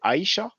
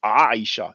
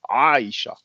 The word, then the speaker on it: Aisha: the Arabic for example in English we say Aisha but the Arabic speakers will pronounce it Aisha is the sound that's like from the throat is difficult for English and French speakers Aisha then the arm does